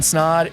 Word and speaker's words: Snod: My name is Snod. It rhymes with Odd and you're listening to and watching the Rhymes with Odd podcast.